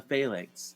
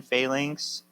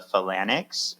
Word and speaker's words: Phalanx: introduced to the X-Men Phalanx. Well, first off, when I was young, I used to call them the Phalanx, which I added a few syllables there.